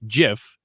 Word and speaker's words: GIF: this person on twitter it's supposed to be fast like jiff so that's where that pronunciation comes from but i get her point that it's a hard g wait no like jiffy yes like anna jiffy yeah it's supposed to